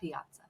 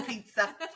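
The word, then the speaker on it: Piazza: they have a Piaza Piaza no it's Pizza it's Pizza your last name is pizza it's spelled p i a zza is pizza it just has an unnecessary a in there anyway says love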